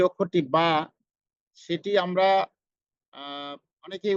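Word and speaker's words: ب: এরপরে আমাদের যে অক্ষরটি বা, সেটি আমরা অনেকে উচ্চারণ করি স্বাভাবিকভাবে, সেখানে আমাদের মাখরাজ সেটা আমরা খেয়াল করি না। আমরা বা উচ্চারণ করব দুই ঠোঁটের ভিজা অংশে আমরা লাগিয়ে রাখবো।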